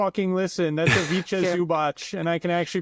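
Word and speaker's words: Ivica Zubac: That's a Vicha Zubach. And I can actually pronounce his name. It is Avicha Zubach. Avicha? I thought it was a Avaka.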